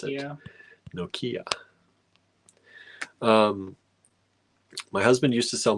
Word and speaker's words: Nokia: Linda says, you say Nokia funny. We say Nokia. I say Nokia. I think that Nokia. That's how I was taught to pronounce it. Nokia.